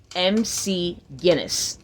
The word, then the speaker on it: McGinness: let me get let me get you again Mc Guinness like the world book and like the Brew